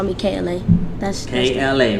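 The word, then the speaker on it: K.La: spin on kayla so kla is my real name the dot is silent it's supposed to be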